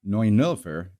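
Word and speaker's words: Neunelfer: the porsche 911 pronounced like the infamous date and not the emergency number or in german pronounced noy nilfer is a two-door twoplustwo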